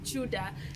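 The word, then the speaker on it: Tudor: It's written as T-U-D-O-R, Chudor. Chudor. But it's pronounced as Chuda.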